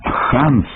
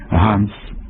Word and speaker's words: Ганс: слід передавати через г вимова Ханс хельмут хофман йоханесбург у російській мові виправдана бо там немає фрикативного г є лише Ґ і х а у мові українській вимова Ґ або х на місці г суперечить здоровому глуздові це майже те саме що замість голова гриб глина казати голова гриб глина або холова хрип хлина Отже Ганс Гельмут Гофман йоганесбург тут можлива